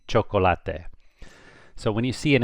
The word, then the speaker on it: chocolate: But when it's with a C, it makes a CH, so it'd be chocolate.